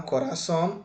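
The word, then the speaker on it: corazón: grave ou será aguda Qual é a sílaba tônica de Cora é ra ou Son som isso mesmo caiu em cima do A então coraçon é uma palavra aguda entendeu Vamos fazer outra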